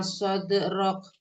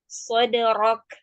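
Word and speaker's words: صدرك: Waktu pengucapan dal sukun, Umi jangan sampai sode gitu ya. Kita belum masuk pada kesalahan yang terjadi pada pengucapan huruf qalqalah. Umi tidak boleh mengakhirinya dengan dengan huruf hamzah.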